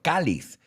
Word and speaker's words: cáliz: Yeah, y lo veo aquí, lo tengo delante, pero como no registro, cáliz, with an accent on the A.